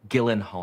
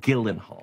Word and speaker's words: Gyllenhaal: week with camila cabello gyllenhaal your name is pronounced guildenhall i guarantee you it is not four female ghostbusters the